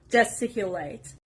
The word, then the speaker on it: gesticulate: word is gesticulate gesticulate this stress is on the letter s gesticulate it means to use